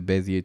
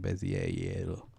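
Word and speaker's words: Bézier: Bezier. Is it a French word? I always pronounce it like it's French.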